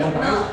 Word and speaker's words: Montreux: A ver, tú puedes pronunciar Montreux.